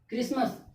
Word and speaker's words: Christmas: इसमें भी एस के बाद टी आया है, जो कि एस के बाद जब टी आया तो क्या हो जाएगा? साइलेंट हो जाएगा। यानी कि इस वर्ड का प्रोनाउंसिएशन करते समय टी लेटर्स का प्रोनाउंसिएशन नहीं होना चाहिए। आप लोग खुद करके देखिए। क्रिसमस कहीं पे भी टी का नहीं है।